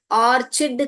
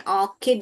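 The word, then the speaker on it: orchid: उसको हम बहुत लोग इसको भी गलत प्रोनाउंस करते हैं। ऑर्चिड करके बोलते हैं। मगर यह ऑर्चिड नहीं है। ऑकड है। सी एच जो है यहां पर क ध्वनि निकालता है।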